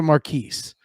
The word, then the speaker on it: Marquis: Marquis, the S is pronounced. It's a Marquise.